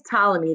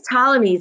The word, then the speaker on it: Ptolemy: came along colony claudius ptolemy the letter p is silent and claudius ptolemy still believed in the